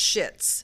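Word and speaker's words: Schitt's: the series and it spelled SCH itts it's pronounced shits but it's spelled and so it's called shits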